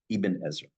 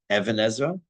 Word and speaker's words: ibn Ezra: said this before it's a pet peeve of mine that people say Evan asra it's that's that's that's as bad as saying my name is instead of it's it's not the